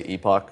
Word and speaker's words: epoch: fields call epoching and yes I know there are many many ways to pronounce this word epicing but most of us say Epoch it's just sort of the the standard so you can use